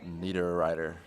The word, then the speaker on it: Niederreiter: gonna go with we go with a Nino Niederreiter yep that is exactly right very second one